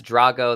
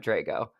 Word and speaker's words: Drago: from the Italian version, but Rocky 4 is probably how most people know my last name. That's Drago. That's the Russian PR pronunciation. But I'm Drago.